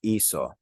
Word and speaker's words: hizo: If I spelled this H-I-C-O, C-O is pronounced co. So this would be equal if we kept that same spelling. Remember, we want to be consistent in Spanish. So we actually changed the spelling in the third person of this hacer to a Z instead of a C, just to keep that same sound.